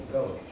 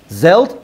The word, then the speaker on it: zealot: Also called zealot. Zelt?